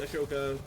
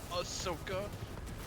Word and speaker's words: Ahsoka: General Grievous is an asshole, Obi-Wan Kenobi, Ashoka, I got it. I'm there. Actually pronounced Ahsoka. I will So stupid when you say it wrong.